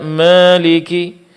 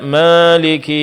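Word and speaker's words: مالك: Sehingga alif di sini seperti alif yang diimalahkan yaitu Maliki dibaca Maliki. Maliki yaumiddin dibaca maiki yaumiddin. Ma seolah-olah ini diarahkan ke huruf E. Bentuk imala dalam qiraat. Dan ini tidak benar.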